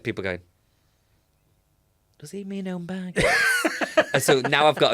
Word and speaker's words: Home Bargains: I want to remind people, I do a bit about, do you know the shop Home Bajans? No. Home Bargains.